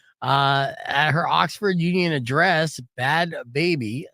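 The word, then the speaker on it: Bhad Bhabie: Bad Baby. It's hard to pronounce her name because she spells it. The way she spells it is BHAD. BHABIE.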